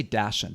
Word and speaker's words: dachshund: How do you say Dachshund?